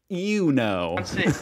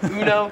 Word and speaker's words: Uno: In America, we pronounce. Let me guess. Uno. Uno. It's kind of like the emu one. Uno. Here, it is more pronounced like you know.